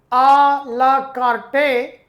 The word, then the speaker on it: à la carte: It looks it is written alakarte but its right pronunciation is alakart.